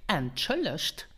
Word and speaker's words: Entschuldigt: To ask more politely, you could say, Entschuldigt. Wieviel Uhr ist es? Entschuldigt, wieviel Uhr ist es? Entschuldigt means excuse me. And pronounce it entschuldigt with the T at the end because this is the